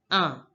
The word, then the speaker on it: un: One is pronounced as in French. Un. Please notice that is a nasal sound.